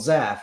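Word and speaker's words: Zhaff: board and in various there's a character called zaf which is z-h-a-f-f and that was always his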